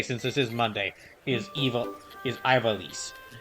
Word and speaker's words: Ivalice: But currently what it is today, since this is Monday, is Ivalice.